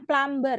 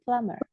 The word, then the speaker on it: plumber: ya serabutan gitu itu dibacanya bukan plumber ya tapi b-nya itu silent plumber Jadi bukan plumber tapi plummer kalau ilmuwan sentis Scientist